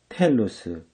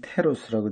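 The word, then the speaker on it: telos: 모든 그리스의 철학은 텔로스, 번역으로는 테로스라고 되어 있는데 T-E-L-O-S, 테로스라기보다도 텔로스, 그렇게 발음하는 게 좋습니다.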